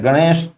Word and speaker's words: गणेश: गणेश, इसको ढ पढ़ा जाता है, ये श है, इस तरह से इसको गणेश लिखा जाना चाहिए।